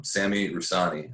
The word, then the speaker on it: Sami Rusani: But today I have on the show, his name is Sami Rusani. I actually pronounced that correctly.